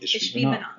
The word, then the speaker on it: Ishbi-Benob: And honestly, I had to Google it to make sure I was pronouncing it right. What is it? Ishbi-Benob? Ishbi-Benob.